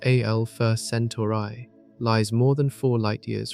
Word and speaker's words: Alpha Centauri: The Alpha Centauri system, pronounced Alpha Centauri, lies more than four light-years from the Sun.